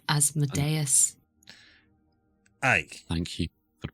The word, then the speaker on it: Asmodeus: Like Asmodeus. Aye. Thank you for pronouncing it correctly.